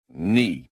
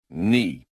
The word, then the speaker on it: knee: Silent K. One of my favorites. Silent K. Knife. Knife. Knife. Knee. Knee. Knee. Knock. Knock. Knock. Night. Night. Night. That K is just showing off.